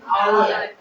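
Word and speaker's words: hour: लोग nest honest मतलब ईमानदार इसको क्या पढ़ेंगे आवर आवर मतलब ंर इको क्या पढ़े इसको इको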